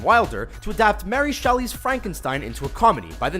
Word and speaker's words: Frankenstein: to adapt Mary Shelley's Frankenstein Ainsworth comedy by the name of Young Frankenstein it's pronounced frank enstein film is considered by